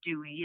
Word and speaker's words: Duez: I am Dewey my name is spelled d-u-e-z but it's uh pronounced Dewey it's a strange little